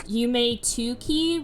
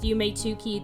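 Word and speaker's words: Yume 2kki: the most known is Yume Tuki, which literally, you pronounce it like Yume Nikki, but there's a 2 there because in Japanese 2 is ni.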